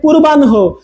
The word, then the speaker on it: পূর্বাহ্ন: Similarly এখানে দেখেন হ প্লাস ন, কিন্তু উচ্চারণে কি হবে, আগে ন পরে হ। যেমন আমরা এখানে বলবো পূর্বাহ্ন, পূর্বাহ্ন, আগে ন চলে আসবে, দেখেন পূর্বাহ্ন হো, অপরাহ্ন, অপরাহ্ন হো, অপরাহ্ন হো।